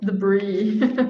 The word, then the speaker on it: debris: what about this one debris oh my degree that's just directly from french so the bree yeah um that's pronounced differently uk english would say